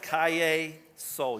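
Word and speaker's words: Calle Sol: I've been pronouncing it incorrectly for months, and not one person corrected me. And I am really upset about that. It is Kaye Sol.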